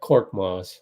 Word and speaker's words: Korkmaz: How do you pronounce his name again? Yeah, Korkmaz.